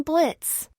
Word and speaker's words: Blitzo: minor edits hi there I'm Blitz the O is silent and I'm the founder